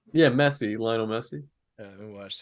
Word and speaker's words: Messi: Is that how you pronounce the guy's name? Yeah, Messi, Lionel Messi.